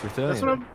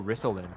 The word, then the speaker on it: Rilan: right tonight amazing incredible how do you say it rilan it's rilan that's what I'm saying a lot a lot of people go rlin and I'm like that's